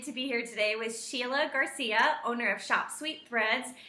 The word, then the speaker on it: Shella: uh my spelling of my name is unique um it's spelled s h e l l a everyone thinks it's shella but I'm Sheila um I was born